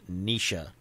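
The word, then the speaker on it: Naoise: the comments says that you pronounce it nisha rather than noise so that's helpful it doesn't look like that at all but gaelic can be like that but nisha rather than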